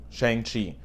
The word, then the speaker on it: Shang-Chi: Now I want to start with the pronunciation of Shang-Chi. CHI is hotly debated as to the proper enunciation. Some people say it's Chi, Shi, Chai, Kai. There's a lot of variations. I'm going with Chi, Shang-Chi.